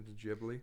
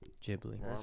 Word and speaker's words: Ghibli: The Jibli pronounced with a soft J sound. Oh, Jibli.